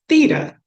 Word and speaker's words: Theda: parent that says, Theda, and yes, it's pronounced Theda. Even when somebody will tell you it's Theta, they're wrong. It's Theda.